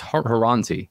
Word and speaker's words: Horonzy: Did I say that right, Charlie? It's Horonzy, right? That's correct.